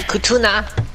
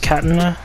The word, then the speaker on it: katana: I got my kutuna. Pronounce. Let me show you the way of the sword. That's not what I meant when I say spread your legs. It's pronounced Katana, sir.